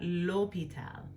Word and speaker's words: l'hôpital: it's silent, we've got l'hôpital. So this will let you know that you don't pronounce that H.